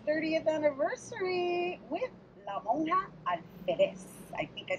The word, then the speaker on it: Alférez: All right, so I hope I'm pronouncing it right, because I know there's an accent on the E. ALFÉREZ. Yeah. ALFÉREZ.